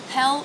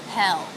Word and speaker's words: hell: or hot as hell hell with the H consonant the E vowel and the dark L hell hell now being a